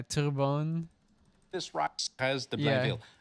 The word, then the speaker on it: Terrebonne: They have a riding pronounced Turbine. Yeah, Turbone.